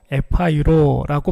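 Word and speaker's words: ἐπαίρω: 이 말씀에서 들다라는 말은 헬라어로 에파이로라고 발음을 하는데 정확히 말하면 들어 올렸다라는 뜻이 있습니다.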